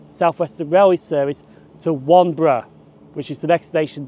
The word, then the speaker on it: Wanborough: Now at the start of the video I said this station is called Wanborough, but that's mispronounced. It's actually called Wanborough.